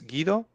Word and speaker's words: Guido: Honestly, the way we say it here, it's Guido. Guido.